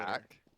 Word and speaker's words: ATK: Oh, See, it is pronounced attack, yeah.